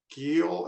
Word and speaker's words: Giel: that's all right um uh Council uh Mr Gil am I pronouncing your name correctly you have 20 minutes